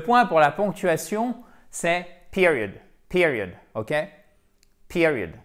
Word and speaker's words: period: Non, le point pour la ponctuation, c'est period. Period, ok? Period, accent tonique. Attendez, je vais prendre mon marqueur rouge. Accent tonique sur la première syllabe avec un i court.